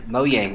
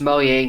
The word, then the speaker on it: Mojang: And it is pronounced Mojang, not Mojang. Learn something new every day. Well, it's a Scandinavian company, and they pronounce their J as like a Y.